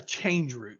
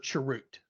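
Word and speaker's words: chroot: code so that's a change root or charute that's how it's often pronounced so then we fast forward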